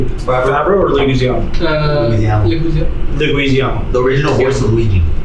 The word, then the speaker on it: Leguizamo: I want to pronounce this correctly. Favreau or Leguizamo? Leguizamo.